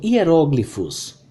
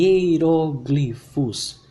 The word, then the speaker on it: hieróglifos: ele aprendeu que as inscrições eram feitas com hieróglifos e hieroglifos soletrou ele para testar sua fala Afinal era